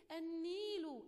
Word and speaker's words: النيل: النيل، أني نطقت النون مرتين واللام لم تنطق، والنون دي نطقت مرتين يعني هي عليها شدة وكسرة، أني نون سكون وبعدين نون كسرة، إذن دي لام شمسية.